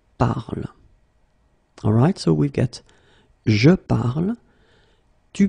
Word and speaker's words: parle: you listen to me, I will pronounce it je parle, tu parles, il parle, elle parle. So it does mean that even if you write them differently, E, ES, and then ENT, you will pronounce them the same way.